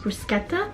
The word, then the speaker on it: bruschetta: They have like bruschetta board, which when I went to Italy, they said it's pronounced bruschetta. Bruschetta? Brushe- Brushe- I pronounce it bruschetta.